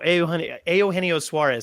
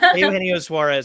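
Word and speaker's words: Eugenio Suárez: Roger replied to us and said, "What has been the hardest name to pronounce?" Oh, Eugenio Suarez. See, I even stumbled over right there. Eugenio Suarez.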